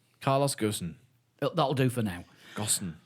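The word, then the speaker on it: Ghosn: o SN that's like ghost but with an N on the end of it Go Goen Carlos gsen that'll do for now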